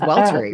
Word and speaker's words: Welltory: it right, too, because I hear you say Weltery. So, it's it's Welter, right? It's Welter. You can pronounce it however you want, but the basic thing is it's Wellness Laboratory.